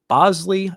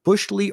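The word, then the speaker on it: Boushley: about him later and Caleb Bosley not Bushley or Bosley like I have previously pronounced um my apologies to Caleb and the Bos Oley family.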